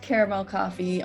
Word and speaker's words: CARXMEL: But you can find me at it's pronounced Caramel Coffee on Twitter, but it's CARXMEL Coffee, where I just play and scream about tabletop RPGs all the time and anime.